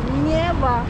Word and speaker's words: Нева: Нева. Neva. Да. Хорошо. На ударение.